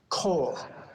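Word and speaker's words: כל: case, I will teach you that the kaf lamed with a comma is a special pronunciation, kol.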